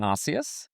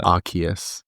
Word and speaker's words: Arceus: So how are you supposed to pronounce it? Arceus. Like, Arc is in like the highest point. Oh, I like, called it Arceus.